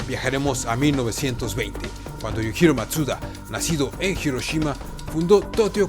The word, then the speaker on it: Mazda: la luz además que en japonés la palabra Mazda se pronuncia matsuda Así que el nombre